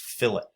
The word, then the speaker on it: fillet: and you click this that is not fillet like filet mignon or fish fillet or anything like that that's actually pronounced fill it so if you click